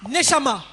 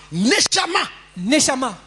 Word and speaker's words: Neshama: Et les Hébreux appelle cet esprit que Dieu plaça dans la chair Neshama. N-E-S-H-A-M-A. Mais il y a accent circonflexe sur le premier A. N-E-S-H-A. Accent circonflexe M-A. Neshama.